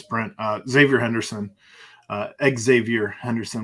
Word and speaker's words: Xavier: uh Xavier Henderson uh Xavier Henderson we'll make sure to pronounce both the X and the Z as he spells it not as the muskies do uh but he's going